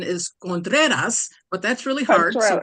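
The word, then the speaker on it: Contreras: gosh hi thank you uh well the correct pronunciation is contas but that's really hard so we'll make so we'll make it contrarious so so good evening cat ladies for Kamala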